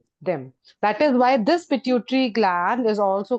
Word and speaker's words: pituitary: Ma'am, how do you pronounce the second example of ductless glands? Pituitary gland. Pituitary.